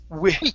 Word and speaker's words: which: Okay, what I would suggest, now the British pronunciation would tell you to say which and really pronounce the wh sound. Okay, Yes. Yes. but really we don't say that. Okay, in the U.S. we usually just use an oo sound and we say oo which.